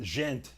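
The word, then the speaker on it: Djent: specific specific tone man Tyler says the D is silent yeah I feel that jent is it that right jent why is there a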